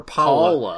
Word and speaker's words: Paula: paulina paul she or paula it's like it rhymes with koala koala koala is paula